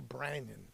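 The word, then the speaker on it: Ó Braonáin: Okay, it's not O'Brien. It's a It's a B R A. So Brandon instead of Brian, it's Brandon of Hot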